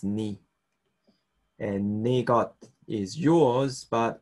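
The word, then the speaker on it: 네: or becomes nara and your is ne but when you speak it's usually sort of pronounced knee and negat is yours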